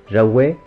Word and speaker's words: javois: Il faudra attendre le XIXe siècle pour que l'ancienne forme javois, prononcée jaouais, soit remplacée par javais.